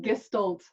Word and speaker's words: Gestalt: Is that how I've pronounced it properly? Gestalt? Yes, you have. Gestalt.